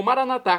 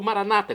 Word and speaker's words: Maranatá: E agora eu clamo Maranatá, como dizemos nós católicos, ou maranata, como dizem nossos irmãos separados das casas evangélicas ou protestantes. Não importa a pronúncia, o significado é o mesmo.